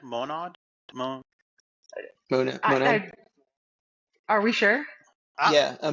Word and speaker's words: Monad: Monad? Monad.